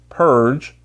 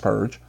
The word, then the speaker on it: PRG: The opportunity to own rare edition Lightning comic books like Bloodfire #1 Platinum, Judgment Day #1 Gold Prism, Purge, that's how PRG is pronounced, Purge, #1 Platinum.